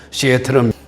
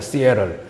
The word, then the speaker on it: Seattle: 그래서 시애틀, 미국 사람들 영어 발음은 시애틀을 시애틀이라고 합니다. 시애틀, TT를 약하게 이야기하죠.